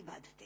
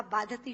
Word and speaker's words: बाधते: मुंह से बोला हुआ बाधती शब्द कष्ट दे रहा है, क्योंकि बाधती शब्द का अशुद्ध उच्चारण आपने किया है। ये शब्द बाधते होना चाहिए। भारम न बाधती राजन यथा बाधती बाधते।